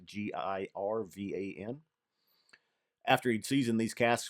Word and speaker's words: Girvan: a grain spirit from, I think it's Girvan is how it's pronounced, Girvan.